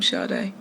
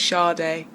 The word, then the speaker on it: Sade: So I could have been Fola or Sade, and so I'm Sade. English pronunciation is Sade.